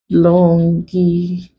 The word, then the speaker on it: longitudinal: So first off, let's break longitudinal. So this is the last syllable, the penultimate syllable, and the anti-penultimate syllable. So we write our TU in caps to show that that is where the stress lies.